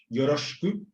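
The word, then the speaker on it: よろしく: El SH sí es semejante, es un sh. Así que la palabra es yoroshiku.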